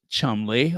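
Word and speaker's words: Cholmondeley: hanberry the mess of Chumley pronounced Chumley of course hanberry lawyers toad Business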